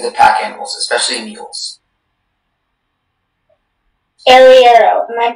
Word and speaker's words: arriero: Arriero is the only pronunciation.